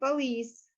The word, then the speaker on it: police: Some French borrowings have retained their stress on the last syllable. For example, police and cartoon.